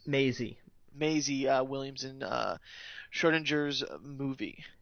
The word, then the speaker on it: Maisie: How do you pronounce her first name? Maisie.